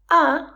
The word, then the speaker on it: a: So “a” or often pronounced as “uh” is used for the consonant sounds.